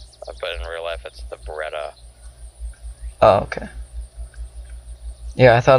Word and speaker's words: Beretta: Oh, the beretti. Yeah. I think it's supposed to be pronounced beretti. Beretti. But in real life, it's the. But in real life, it's the Beretta.